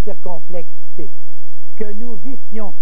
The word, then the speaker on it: vissions: Que nous vissions, regardez le S qui revient, double, pour qu'on prononce vision et non pas vision.